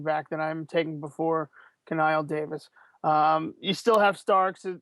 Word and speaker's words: Knile: Well, first off, I believe it's pronounced Knile Davis, Very but funny.